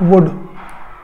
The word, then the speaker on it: would: वुड की बात करें, इसमें एल जो हमारे पास है ये एल हमारे पास साइलेंट है। अगर मैं यूज ऑफ वुड की बात कर दूं तो इसमें वुड में एल क्या साइलेंट है, हम इसको वुड मतलब वुड नहीं पढ़ेंगे, इसमें हम वुड पढ़ेंगे, तो इसमें एल साइलेंट है।